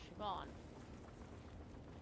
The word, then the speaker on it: Siobhan: It's Siobhan, not Siovhan. It's B, not V.